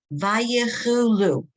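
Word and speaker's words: ויכלו: No, it's a chaf. Oh, Voklu. Vayechulu. Vayachulu. Hashi.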